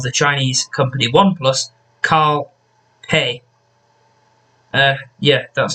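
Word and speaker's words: Pei: the ex-ceo of the chinese company oneplus karl hey uh yeah that's how it's pronounced he think it's spelled p e i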